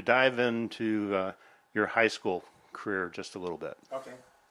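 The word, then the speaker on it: Kayre: change her professional name so she went with care which is uh what people call her for short anyway so she came up with kind of a interesting way to spell that that looks kind of gaelic that's k-a-y-r-e but anyway i met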